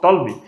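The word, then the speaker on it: Ptolemy: एक Greek geographer है टॉलमी, इसमें पी साइलेंट रहता है, जिसको हम टॉलमी पढ़ते हैं।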